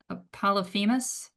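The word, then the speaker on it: Polyphemus: Apolmis. P O. Let me let me spell it for you.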